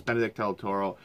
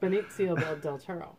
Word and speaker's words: Benicio del Toro: In this one, it stars Benedict Del Toro, Josh Brolin, also known as Thanos. Benicio. Yeah. I actually know how to pronounce that one. Benicio del Toro.